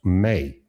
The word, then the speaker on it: me: It's like me, but it's pronounced May.